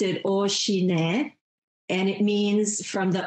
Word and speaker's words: OCINET: But you pronounce it Oshine, and it means from the O family, Oshine, O-C-I-N-E-T.